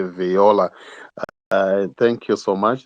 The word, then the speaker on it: Viola: It's Viola, pronounced as Viola that side, but it has to be Viola.